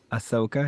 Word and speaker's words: Ahsoka: Star Wars series oh is that how you pronounce her name Ahsoka yes okay good for her good friends I